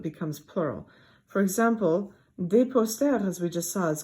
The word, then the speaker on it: posters: Un poster versus des posters. There's no difference in poster. That S is not pronounced.